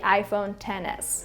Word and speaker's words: iPhone XS: my previous phone the iPhone XS or I guess the correct way to pronounce it is the iPhone 10s and that phone was